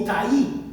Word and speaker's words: Itai: O Itaí, dicen algunos. Aquí no le veo el acento en la I.